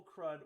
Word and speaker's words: CRUD: Charts can visualize spending by category, but the MVP is focused on correct crude and incorrect calculations. I believe that's pronounced CRUD.